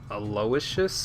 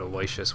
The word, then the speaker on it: Aloysius: Or Aloysius? Okay, that's how you pronounce it. I pronounced it Aloysius, which is totally not correct at all.